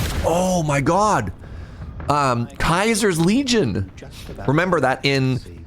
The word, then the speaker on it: Caesar: Um Kaiser's Legion. Remember that in your family New Vegas they pronounce Caesar Kaiser.